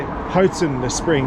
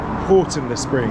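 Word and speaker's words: Houghton-le-Spring: I've just looked it up, and I actually have to pronounce it Houghton le Spring, not Horton le Spring, I believe.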